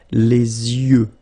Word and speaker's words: les yeux: Les yeux. Okay, final X not pronounced.